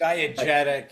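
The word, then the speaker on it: diegetic: Wait, does that impact how you approach the score then knowing what um can you pronounce? Diadeetic. Was that the word you used? Diagetic.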